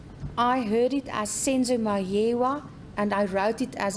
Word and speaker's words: Meyiwa: His answer to the question: the police called me and asked me if I know of Senzo Meyiwa's death.